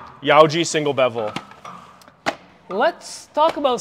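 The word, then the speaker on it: Yauji: some cool things yaoi Yoji is spelled y a u j i Yoji single bevel let's talk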